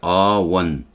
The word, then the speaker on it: one: 그에 비해서 one-eyed girl 그러면 이게 원이니까 어로 하는 거예요. 원. on이 아니죠. W 발음이니까.